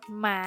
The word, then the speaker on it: กฎ: ได้ แก่ คำ ว่า กฎ หมาย อ่าน ว่า กฎ หมาย กฎ กติกา อ่าน ว่า กฎ กติกา คำ ใน มาตรา ตัว สะกด แม่ กด ที่ มี ฏัก เป็น ตัว